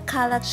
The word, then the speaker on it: Kallax: I still have the Kallax shelving unit from IKEA. That's how they pronounce that in Swedish.